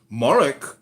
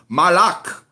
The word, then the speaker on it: Malak: of Babylon why reference mik you got to say it right it's not pronounced mik you're saying it too Irish it's Malak wait what is the